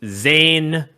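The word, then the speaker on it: Zain: not how you say his name. You say Zan. It's Zan? Yeah. Because Because he's Pakistani, so AI makes an sound.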